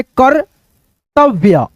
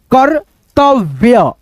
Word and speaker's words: कर्तव्य: ठीक है, ऐसे दोस्तों जब रेफ की मात्रा किसी भी अक्षर पे ये लगता है ना, उस अक्षर पे लगेगा, उस अक्षर से पहले इसका उच्चारण आएगा। यहां पे देखो जैसे कर्तव्य, कर्तव्य, कर्तव्य, कर्तव्य।